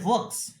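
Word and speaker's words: hoax: এর পরের শব্দটা হচ্ছে ওয়াক্স। ওয়াক্স, HOAS, ওয়াক্স, ওয়াক্স pronounce হয় ওয়াক্স, ওয়াক্স।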